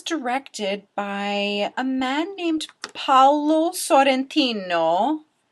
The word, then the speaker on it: Paolo Sorrentino: It was directed by a man named Paolo Sorrentino. I totally pronounced that with an Italian accent, just practicing my Italian for my listeners.